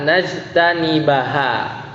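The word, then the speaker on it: نجتنبها: Berarti bacanya hatta najtanibu, bukan najtanibu tapi hatta najtanibaha.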